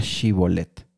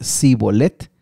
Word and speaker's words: shibolet: que como ya vivían de tiempo separados, estas esta palabra shi eh el inicio de esta palabra la pronunciaban diferente. Así que si era de Efraín ellos iban a decir sibolet y de esta manera se